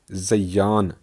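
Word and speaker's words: زَیَّان: نہیں۔ البتہ عربی میں زیان زا پر زبر، یہ پر تشدید اور زبر زین سے مستعمل ہو سکتا ہے،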